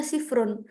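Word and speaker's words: صفر: kita dahulukan kan tulisannya gini teman-teman ya kita bacanya kayak nomor pada umumnya ya dimulai dari 0 0 bilangnya sifrun jadi kita Eja satu-satu contoh ini nomor yang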